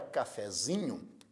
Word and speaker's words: cafezinho: Na palavra cafezinho, a sílaba tônica é zi. Então a sílaba tônica de cafezinho é zi.